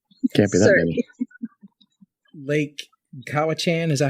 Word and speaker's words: Cowichan: Lake Cowichan, is that how you pronounce it? Yeah. Do you know what the population? Cowichan.